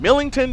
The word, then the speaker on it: Millington: I keep saying it wrong. I've said it wrong all weekend. Millington, Tennessee.